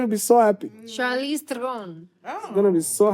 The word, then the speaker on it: Theron: Charlize Theron. I'm going to be so happy. You see, you have to say it right, eh? Theron. Throne.